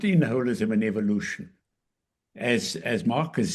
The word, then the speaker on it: holism: And by the way, Marcus I appreciate his pronunciation of holism, which is exactly how Smuts pronounced it.